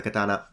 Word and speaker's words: katana: you are in the katana now for those of you are interested in Japanese these are pronounced Yari Katana and Samurai if you want to